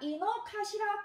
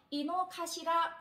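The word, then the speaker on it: 井の頭: 요때 가시라라고 발음을 하고요. 근데 그 일본에 가면 도쿄 사람들한테 아주 사랑을 받는 공원이 있는데요. 자, 이노카시라 코엔이라고 합니다.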